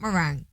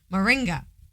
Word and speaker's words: moringa: Nope. Not meringue. Moringa.